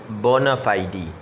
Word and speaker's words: bona fide: FIDE لگا ہوا ہے، اس کو فائیڈ نہیں پڑھنا، ٹھیک ہے۔ امریکن تو فائیڈ اس کو کہتے ہیں، لیکن اصل میں اس کا تلفظ جو ہے ایکچوئل اس کا پروننسیشن ہے فائیڈی، ٹھیک ہے، بونا فائیڈی۔ اب اس کا پروننسیشن